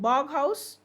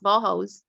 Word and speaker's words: Bauhaus: So yes, somebody would buy a piece of, how do you pronounce it then? Is it Boghouse or Bauhaus. Bauhaus? Yes, Bauhaus.